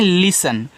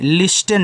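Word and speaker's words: listen: लिसन। तो यहां देखो आपको लिसन लिखना है। लिस्टन नहीं जो लोग लिस्टन पढ़ते हैं, वह गलत है। इसको एल आई एस टी इ एन को लिसन पढ़ते हैं।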